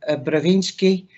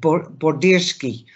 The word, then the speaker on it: Bodirsky: that's okay I'm trying I've been struggling over your surname because I'm also dyslexic but border ski is that better yes that was wonderful okay nice to meet